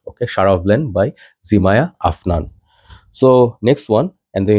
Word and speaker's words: Afnan: This is from House of Afnan, or Americans say Afnan.